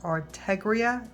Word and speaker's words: Artegria: This brush is by, I believe it's pronounced Artegria, A-R-T-E-G-R-I-A, and this is a size 4.